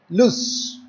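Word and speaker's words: lose: So this word you will have to pronounce it as loose, loose, L-O-S-E, loose.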